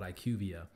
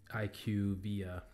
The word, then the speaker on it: IQVIA: And IQVIA, that's how you pronounce it, I believe. Please correct me if I'm wrong, but I think that's the correct way to pronounce it from what I've heard from people that have worked there.